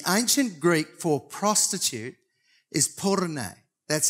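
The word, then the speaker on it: πόρνη: your information, the ancient Greek for prostitute is porne.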